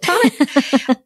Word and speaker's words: Tonique: And then, Tonic is Tonic Mobile Bar, but it's spelled T-O-N-I-Q-U-E. Some people call it Tonique. I'm from Maine, so I call it Tonic.